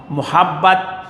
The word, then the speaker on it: محبت: اوپر جزم ہے، عرفان۔ محبت، میم پر پیش ہے، ہے پر زبر ہے، پے پر شاد زبر ہے، اور تے پر جزم ہے۔ اگلا لفظ ہے منزل،